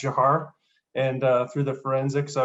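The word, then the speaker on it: Dzhokhar: and eventual conviction for a death penalty for Jahar Sarnaev. So it looks like Zohar, but it's actually pronounced Jahar.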